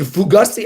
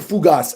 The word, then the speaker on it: fougasse: It's a fugazi. I don't think it's called fugazi. I think it's like a fougasse.